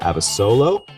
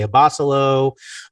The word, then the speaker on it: Abasolo: to you man uh you pronounce my name correctly i get a lot of people that say abolo obo yeah i've heard them